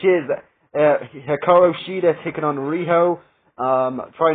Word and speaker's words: Riho: Riho for me, because they pronounce it Riho, and they do it like a very squeaky voice.